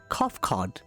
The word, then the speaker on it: Kofkod: As for nomenclature, to address my individual person, I believe it would be pronounced Kofkod. Yes, Kofkod of the Ia.